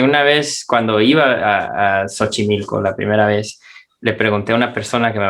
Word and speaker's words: Xochimilco: le van a decir tiene que irse a xochimilco tiene que ir a visitar xochimilco y de hecho a mí me ha pasado que una vez cuando iba a xochimilco la primera vez le pregunté a una persona